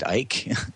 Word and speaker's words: Icke: David Icke, am I pronouncing his last name right? David Icke. That's right. That's how he pronounces it.